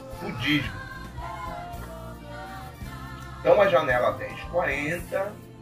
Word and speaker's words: 10/40: Primeiramente, gostaria de alertar que não se fala janela 10x40. Se fala janela 1040. Se escreve 10/40.